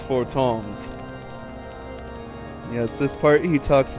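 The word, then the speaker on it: Fortemps: that pronounced i've been pronouncing it the way it's spelled for temps but it's for toms yes this part he talks about your muscles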